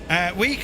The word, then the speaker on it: Wick: Week is how it's said locally. Aye, just leaving Week.